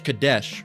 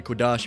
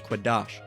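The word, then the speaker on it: קֹדֶשׁ: Now, they say it's Kadesh, all right? But it's actually Quadash if you're pronouncing it grammatically correct in the ancient Hebrew. Again, this is modern Hebrew. In the ancient Hebrew, it was Quadash.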